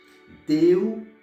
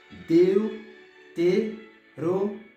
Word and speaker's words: Deuteronômio: Deuteronômio. Deuteronômio. Pour ça, me dit non, on va me dire plus fort, me tenir sur lui parce que c'est syllabe qui porte accent.